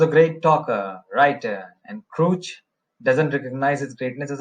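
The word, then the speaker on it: Krutch: by Joseph wood Crouch remember this one has to be pronounced as Crouch Lewis begins with in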